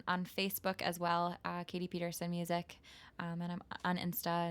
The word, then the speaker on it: Pederson: my website is Katie Peterson dot-com my name is pronounced Peterson but it's spelled like Patterson so its PE d